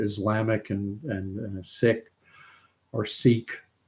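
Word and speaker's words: Sikh: and and sick or seek seeks actually pronounce their faith as the sick Faith that's their pronunciation because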